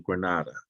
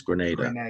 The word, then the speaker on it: Grenada: aviation was down to Granada a Grenada I think they pronounce it as Grenada so I went down